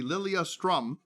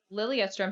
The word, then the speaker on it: Lilyestrom: kind of the tricky lilia strum i think you said right yeah how do you spell that for the people the website part of it oh yeah great um l-i-l-y e-s-t-r-o-m okay and we love it because lilia strom has the word yes in it oh okay that's wonderful